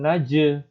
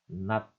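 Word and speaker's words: 낮: mikan Gat Jio kemudian bunyi huruf Na A dan J jadinya bukan naj ya bukan naj melainkan ya j-nya di sini J tapi kalau di awal apa zat kalau di akhir Nat ya berikutnya huruf k dan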